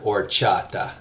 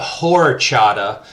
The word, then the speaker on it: horchata: the word or chata you'll notice that this is another good example of that silent H on the beginning there it is instead of horchata don't make the mistake of sounded like a gringo I'm saying horchata usually an H on